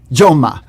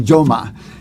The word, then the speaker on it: Jaume: Joma. It's actually a Catalan name. This is from Joma. Jaume.